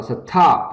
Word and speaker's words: stop: ta nhớ rằng là khi mà cái từ stop không thôi á, thì âm thi đứng sau S, thì chúng ta không bật hơi nữa, đúng nhỉ? Ta đọc rất là nhẹ nhàng hơn, là stop, chứ không đọc là stop, không đọc như vậy nhá, mà là stop, và